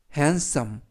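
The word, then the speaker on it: handsome: 발음합니다 뜻은 샌드위치가 되겠구요 h 는 흑 게이는 에 되는 느 그리고 d 는 묵음 쓰는 쓰 오는 어 m 은 뭐 그리고 맨 끝에 있는 묵음 그래서 해안 썸 1승 이라고 발음합니다 이때 s 발음을 약간 세게 하셔서 핸섬 이라고 발음하고 요 뜻은 잘생긴 이라는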